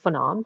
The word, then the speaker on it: Phnam: My name is Phnam, pronounced like phenomenon.